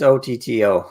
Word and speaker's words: Otto: yeah it is it's Otto uh like Otto von Bismarck um Cedric M says